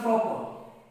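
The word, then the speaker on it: proper: जो पढ़ते क्या है, इसको पढ़ते प्रॉपर। प्रॉपर इनमें आप र को साइलेंट साइलेंट रखें, इसको र को बोलना नहीं है।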